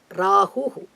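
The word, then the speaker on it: राहु: Ketu Rahu Ketu Allah Oh Rahu that's a correct pronunciation okay rah it's a detail later what we call the long letter Rahu Rahu and then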